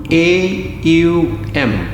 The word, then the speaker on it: Om: You breathe out first, take a deep breath in, Then the Om sound has three components. A-U-M. A-U-Ma.